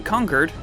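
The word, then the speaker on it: Concord: miss but right after you head down to conquered yes that's how it's pronounced don't hassle me and help out Preston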